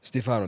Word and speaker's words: Stefano: Stefano.